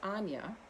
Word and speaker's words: Aine: the summer solstice is anya now interestingly her name is spelled in the irish uh spelling which is a-i-n-e pronounced anya in um the irish language and so when you've